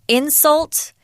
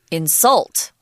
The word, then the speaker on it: insult: wanted to point out if you're using the noun form of the word insult we actually pronounce it differently insult and the verb is insult right and hence insulting